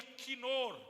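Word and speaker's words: kinor: Casquiapa em hebraico se pronuncia quinor. Não confunda quinor com caldo quinó.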